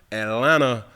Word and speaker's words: Atlanta: Atlanta, the tea is silent.